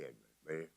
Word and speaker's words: Edmond: Edmonds? Yes, I do like for me to pronounce it Edmond.